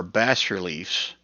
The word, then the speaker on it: bas-relief: Flanking the door are bas-reliefs. I think that's how you say it. Bas-relief, B-A-S, bas-reliefs of two male frost giants that have been defaced.